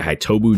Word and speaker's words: Hitobus: I go by Hitobus now. The S is silent.